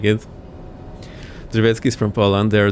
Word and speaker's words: Drzewiecki: Drzewiecki is how you say it.